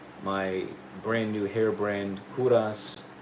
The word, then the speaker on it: Kovras: Obviously, this is for my brand new hair brand, Kuras. It's spelled like Kovas with a V, but the V is just for fancy, but it's supposed to be like my last name, right? Kuras.